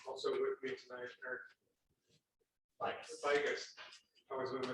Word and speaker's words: Bigus: Also with me tonight, Eric Bigus. I always want to mispronounce it. Bigus from Quick Trip, and then Matt Brown from AMF Engineering.